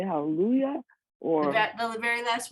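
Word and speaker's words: הללויה: syllables break out right so the first syllable is the just the hay ha the second syllable is just the llamad with the schwa the third syllable is the lamid with the u vowel and the last syllable is the yud and the hay but the unit has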